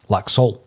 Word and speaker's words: Laxalt: on this podcast, and I believe that it's Laxalt with a silent T.